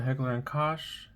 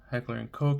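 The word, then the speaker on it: Heckler & Koch: And it's going to be HNK, the Heckler and Kosh. Heckler and Coke. I'm not sure how it's pronounced. I pronounce it Heckler and Kosh.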